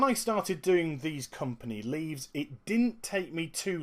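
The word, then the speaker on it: leves: that will offer company leaves l v it's pronounced leaves I've done research into that as well and what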